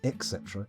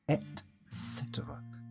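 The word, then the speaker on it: et cetera: turtles and fishes etc except it's not ex cetera its etc sorry I pronounced a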